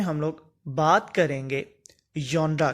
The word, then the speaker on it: genre: अगर हम लोग इसके सिलेबल की बात करते हैं तो इस वर्ड के हमारे पास दो सिलेबल हैं, एक जॉन और दूसरा रा। तो correct pronunciation of this word would be John रा। कि इसको हम लोग कैसे प्रोनाउंस करेंगे? जॉन रा।